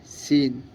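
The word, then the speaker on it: scene: চিরনি এরকম গাইস যেমন silent C যেমন এস সি ই এন ই সিন এস সিই এন ই সিন C silent guys ভালো করে প্রাক্টিক্যালি পড়বা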